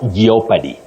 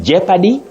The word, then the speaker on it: jeopardy: lot geopy yes anyway the O in those words is Silent not pronounced so you simply say Jeopardy and jeopardize Tony the of you